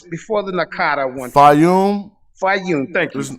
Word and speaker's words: Fayum: Correct me if I'm pronouncing this right. Fuyan or Fayan. It's before the Nakata one. Fayum.